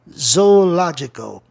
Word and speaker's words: zoological: Zoológico, a palavra proparoxítona, eu vou buscar a sílaba tônica na terceira casa silábica de trás para frente, que é no L-O.